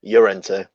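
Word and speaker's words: Llorente: pedantic because he's spanish so it should be pronounced your enter because it's double l but i did that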